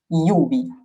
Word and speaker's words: lluvia: Alors attention, la L, bon, c'est L, mais quand vous avez deux L qui se suivent, ça se prononce comme un Y, comme dans le mot pluie qui en espagnol se dit lluvia.